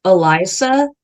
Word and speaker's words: Elysia: I just go by Eli because my name is actually pronounced Eliza because my Yeah, it's Eliza.